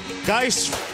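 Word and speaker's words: Guice: once you're good Darius guys with the touchdown catch as they say down Baton Rouge dice rhymes with red beans and rice and headlands mom and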